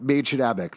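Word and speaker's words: Mädchen Amick: Lily Reinhart, Maid Shadabek. That's how you pronounce her name.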